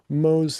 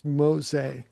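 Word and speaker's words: Mose: Apparently, it's pronounced Fort Mos. I got that wrong, not Mo. M O S E, but it's Mosa, which I mean, if it's from Spanish, it makes sense.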